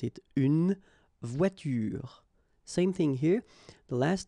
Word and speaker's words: voiture: It's à la fin d'un mot, at the end of a word, then you shouldn't pronounce this like here, une voiture.